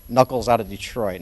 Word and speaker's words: Nuckolls: I pronounce it because it is pronounced knuckles but if you spell it like you do traditionally with knuckles you'll never find me it's not like a